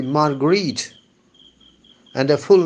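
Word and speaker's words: Marguerite: mared the psycho analyst Margaret I think the better pronunciation would be margarit and the full name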